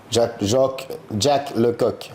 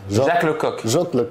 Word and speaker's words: Jacques Lecoq: Jack Lecoq. Jacques Lecoq.